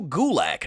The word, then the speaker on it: Gulak: Cedric Alexander defending the title against Drew Gulak.